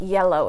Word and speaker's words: yellow: And the first syllable is going to take the stress, so we say yellow. The car is yellow.